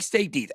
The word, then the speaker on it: stETH: I like staked ETH, STETH, I get it. Yeah. STETH, you pronounce it staked ETH.